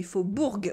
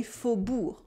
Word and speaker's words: Faubourg: You have the silent G at the end of Faubourg. We don't say Faubourg, we say Faubourg. This time we also have a OU sound in Faubourg.